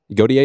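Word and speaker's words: Gotye: Goier. Is that how you say it? Yeah, Godier. Got it.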